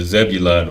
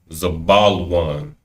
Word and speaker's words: Zebulun: The Zebulun or Zabalawan. Zabalan is the believe the appropriate way to pronounce it.